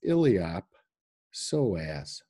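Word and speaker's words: iliopsoas: in front of that then the P gets pronounced so it's illiop soas muscle so anyway do we do you guys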